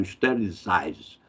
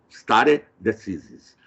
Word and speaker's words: stare decisis: o chamado stare decisis, a pronúncia é essa mesma, né? Porque na língua inglesa eles falam stare decisis, é uma expressão romana, stare decisis.